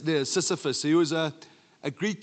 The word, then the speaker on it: Sisyphus: a fellow called, listen, pronounce it properly, Sisyphus, not syphilis. Kitsi says the oak sif, but it's near Sisyphus.